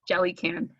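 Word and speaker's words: Jelucan: It's in the audiobook. It's Jellycan. Oh, is that how it's pronounced?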